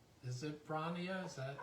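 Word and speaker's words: Bronia: Is it Bronnia? Is that how you pronounce it? Yeah. Bronnia.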